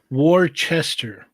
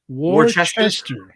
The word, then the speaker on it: Worcester: pronounced Worcester. Worcester.